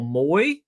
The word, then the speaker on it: Moe: Wendell Moy. I believe it's Wendell Moy, not Wendell Moe. We've been saying Wendell Moe. M-O-E, I think it's pronounced Moy, Polynesian descent.